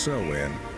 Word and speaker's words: Samhain: These people celebrated a festival known as Samhain, pronounced Samhain, which marked the end of the harvest and the beginning of the cold, dark winter.